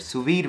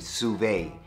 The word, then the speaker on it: sous vide: was pronouncing the word sous vide wrong the proper way to pronounce it is sous-vide I kept saying survey for the survey I